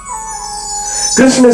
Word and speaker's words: कृष्ण: कृष्ण शब्द का उच्चारण करने के लिए महाराज जीभ को थोड़ी टेढ़ी करनी पड़ती है।